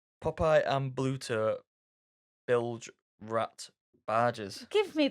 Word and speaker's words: Bluto: is Popeyes and I say Pluto. Popeye and Bluto bilge rat barges.